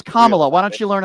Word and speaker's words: Kamala: It's Kamala. Why don't you learn how to spell? Why don't you learn how to pronounce her name right?